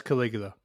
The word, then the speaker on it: Caligula: I don't know how to pronounce it. Caligula? That's Caligula.